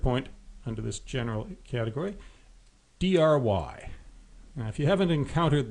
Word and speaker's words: DRY: And third point under this general category, DRY. Now, if you haven't encountered the software design acronym DRY before, it stands for don't repeat yourself, and it's usually pronounced just dry.